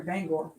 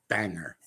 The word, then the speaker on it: Bangor: used to live in Bangor, Maine. So, I was getting very agitated by how many times they kept calling it banger.